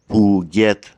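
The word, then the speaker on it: Phuket: is actually closer to Puget. The Thai letter Goai is pronounced like a G at the beginning of a syllable, but like a K at the end.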